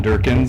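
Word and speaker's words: Dierckins: mayor council members uh my name is Durkin uh last name is spelled D i e r c k i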